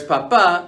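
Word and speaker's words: papá: For example, papa means potato, whereas papa means father.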